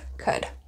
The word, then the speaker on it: could: And of course, we do not pronounce the L in this word, could. So it's not could, it's could.